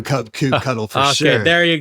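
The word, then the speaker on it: kubectl: with a 100 okay do you do you pronounce CP CTL CP cuddle I do c CP cuddle for sure okay there you go there you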